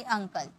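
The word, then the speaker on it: uncle: vowel नहीं है okay तो यहां पर हम क्या इसे हम किसम प्रोनाउंस करेंगे अ में यानी कि अंकल अंब्रेला यू है कंसोनेंट है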